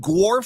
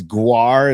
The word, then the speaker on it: GWAR: Maybe I should have taken that person up on seeing that band, because I'm just like, and I think it's Gwar is how they pronounce it.